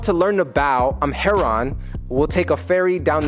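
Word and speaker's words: Charon: actually threatening and two the Greek pronunciation has a silent k sound so even though in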